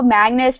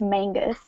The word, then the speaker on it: Magnus: Well, at least you didn't call Magnus from the Mortal Instruments Mangus.